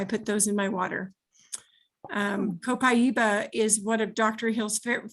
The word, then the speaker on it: copaiba: actually pronounced copaiba in Brazil.